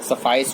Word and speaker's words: suffice: देखो ये जो सफाइस वर्ड है, ये ट्वाइस के साथ वो हो रहा है राइम, ओके। तो ये पोएम इसलिए भी ना सिखाया जाता है ताकि आप ऐसे ऐसे वर्ड का प्रोनाउंसिएशन भी सीख जाएं। इसका प्रोनाउंसिएशन ऑटोमेटिक सफाइस होगा क्योंकि इसका ट्वाइस है।